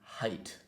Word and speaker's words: height: yeah yeah that but the correct way to pronounce it would be height yeah height height height height yeah uh I